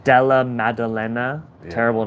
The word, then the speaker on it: Maddalena: Magdalena. How do you say? Maddalena. Della Maddalena.